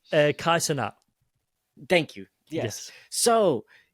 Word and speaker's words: Kai Cenat: fan base will fucking eat me alive for mispronouncing Go, his go, go. shit. But Kaya Sinta or Kaya Sin, you know what Oh, I'm saying? Kai Cenat.